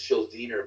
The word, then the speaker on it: Schuldiner: We got to do, because back in the old days in death metal, like singers like Chuck Schuldiner, and it's Schuldiner, by the way, that's how it's pronounced.